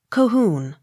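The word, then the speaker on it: Colquhoun: h o u n cohoon accent on last syllable c o n y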